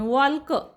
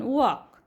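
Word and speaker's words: walk: L silent आहे वॉक वॉक मध्ये ल चा उच्चार करत नाही आपण वॉलक वॉलक असं म्हणत नाही आपण वॉक टॉक टॉलक असं वाचत नाही तर टॉक वॉक मग आता हे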